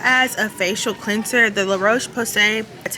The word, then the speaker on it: La Roche-Posay: Okay, now as far as a facial cleanser, the La Roche-Posay, that's how you pronounce it.